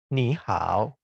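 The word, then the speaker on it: 你好: Jika baru bertemu dengan seseorang, ni hao, ni hao. Dua nada tiga ini menjadi nada tiga yang menjadi nada dua, ya.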